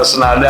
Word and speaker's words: Tsnada: Oke, jadi namanya kenapa Senada ya? Jadi putri saya tuh seneng musik, ya seneng musik jazz. Namanya Sarahnya ejaannya TS. Sarah Nada Malika. Jadi ya kita singkat jadi Senada, gitu.